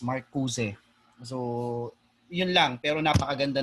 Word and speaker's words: Marcuse: also another is you also need to yung pronunciation ng nung name ni Marcuse is not Marcus, it's Marcuse.